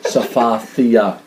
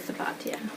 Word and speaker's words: Safathia: she has in her profile how to phonetically pronounce her name, and it says Safathia, TH. Well, everybody says Safatia.